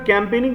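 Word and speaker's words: campaigning: last leg ऑफ कैंपेनिंग अब जरा कैंपेनिंग की स्पेलिंग ध्यान से देखिए इसमें आई जी एन जी साइलेंट है ड य नो मीनिंग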